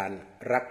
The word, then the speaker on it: รักษ์: การัน นั่น คือ รัก แต่ เวลา ออก เสียง ก็ ออก รัก เหมือน กัน นั่น แหละ เพียง แต่